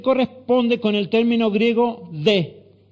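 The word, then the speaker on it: δέ: Esa palabra pero, del verso 22, aquí traducida así, se corresponde con el término griego de, y se pronuncia así, de.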